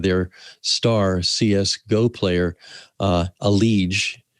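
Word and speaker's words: EliGE: star cs go player aleege e-l-i-g-e but pronounced a liege or a ledge and one episode talks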